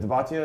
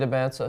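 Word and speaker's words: Dybantsa: AJ Debatia, is that how you say it? AJ Debanta, yep.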